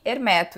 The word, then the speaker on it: Hermeto: perguntei para ele era como que pronunciava o nome, se Hermeto ou Hermeto. E aí ele disse que Hermeto, então eu sempre procuro pronunciar da mesma forma que ele.